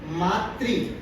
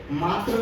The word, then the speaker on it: मातृ: तो सबसे पहले तो मातृ शब्द को हम समझना है कि हम उसका उच्चारण कैसे करेंगे। मात्र नहीं होता, मातृ, मातृभूमि।